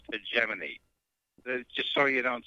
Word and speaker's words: hegemony: Doug, on the show earlier tonight, you were talking about hegemony, which means control. I Yes. thought I would tell you is the word is pronounced hegemony, just so you don't sound like an idiot, you know.